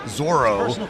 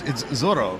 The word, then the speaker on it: Zorro: I think the anglicized Zorro, right? But it's Zorro, right?